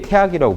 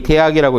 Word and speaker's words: 大學: 고대의 태학이라고 불렀어요. 학교 이름이에요. 원래 이 대학이라고 읽으면 안 되고 태학이라고 읽는 게 본래 맞아요.